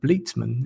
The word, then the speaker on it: Bleetman: So my guest today is Bleman. Is it correct pronunciation of your surname?